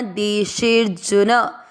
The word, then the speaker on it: देशेर्जुन: आपको मात्रा को लंबा खींचते हुए आधा र पढ़ना, देशेर्जुन।